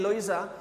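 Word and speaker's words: Luisa: मैं टिकट खरीद सकता था, दैट वुड टेक लुइसा, इधर प्रोनाउंसिएशन इज लुइसा, जो मैं टिकट्स खरीद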